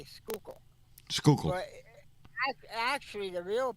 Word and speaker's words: Schuylkill: most of the people around here will just say Schuylkill, Schuylkill. but actually the real pronunciation is Schuylkill.